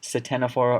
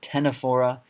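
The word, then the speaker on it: Ctenophora: p h o or a this is not pronounced Satana fora or katana for it's actually excellent seats a Greek word viola tena fora and then we also have plus phyla same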